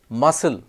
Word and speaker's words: muscle: not dut it's doubt muscle has a silent c psychology It's s y